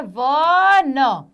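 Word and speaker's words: one: एक वचन संख्या के साथ में ए का प्रयोग होता है जो ओ से प्रारंभ होता है, परंतु व की ध्वनि देता है।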